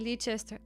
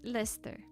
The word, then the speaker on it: Leicester: Why am I pronouncing it Leester?